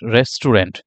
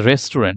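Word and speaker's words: restaurant: এখানে দেখেন my favourite রেস্টুরেন্ট তাহলে এখানে রেস্টুরেন্ট আসলে এটা কি রেস্টুরেন্ট না এটা কখনোই রেস্টুরেন্ট না তাহলে এটার কারেক্ট প্রোনাউন্সিয়েশনটা কি এটার কারেক্ট প্রোনাউন্সিয়েশন হচ্ছে হচ্ছে রেস্ট্রন্ট রেস্ট্রন্ট রেস্ট্রন্ট রেস্ট্রন্ট রেস্ট্রন্ট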